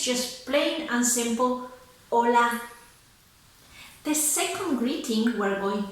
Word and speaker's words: Hola: worry about that because the H in Spanish is silent, so you don't have to pronounce it. You pretend it's not even there, it's just plain and simple, hola.